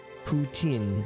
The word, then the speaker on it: poutine: So is the T silent? That's what I'm trying. I don't know how to pronounce T and then S. Poutine. I know the N is like inside. Poutine by Canadians.